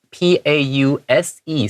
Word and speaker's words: pause: Yeah，没错，而且还要特别注意一下这边 pause 这个字 P-A-U-S-E，虽然它是写 S-E，但是它是念成 Z 的声音 pause 啊，特别小心。